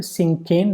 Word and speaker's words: cinquain: Next question, what does the word सिंकेन refer to? The pronunciation is also important. सिंकेन, सा ई इंग, सिंकेन।